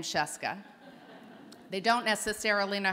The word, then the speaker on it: Scieszka: the country now knows how to pronounce the name sheska they don't necessarily know